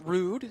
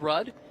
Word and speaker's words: Rudd: been told that uh jacob rudd should be pronounced rude so apologies there uh did check in with the team for what it's worth and we were told rudd but uh since have been told rude would be the way to go